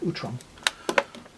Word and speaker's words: Utrom: Utrom.